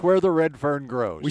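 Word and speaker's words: Redfern: How do you say it? Redfin? Red fern. Where the red fern Where grows. the red fern grows, Mick. There's an R in there? Yes.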